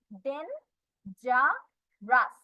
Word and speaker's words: dangerous: dangerous, D A N, den, G E ja, R O U S, রাস।